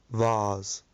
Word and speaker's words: vase: There are 2 different ways to pronounce this word, a US version and a UK version. The UK version is vase, vase. I got it. Vase. And the US version is vase, vase, vase.